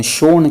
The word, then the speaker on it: सोन: यहां पर एक सोन नाम की जिसका उच्चारण शोण किया जाता है एक सोन नाम की